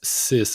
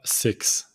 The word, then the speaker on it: six: The next one sis and it it's sis and not six sis set this also this one it's not but this do tatters can size.